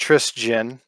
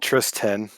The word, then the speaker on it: Tristian: t-r-i-s obviously t-i-a-n and it is pronounced trisgin i hate getting called tristan so anyone listening to